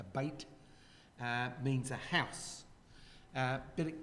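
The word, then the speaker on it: בית: have Bethel here. Yeah, Bethel. That was- The word in Hebrew, the word Beth or Beit, they pronounce it more a Beit, means a house.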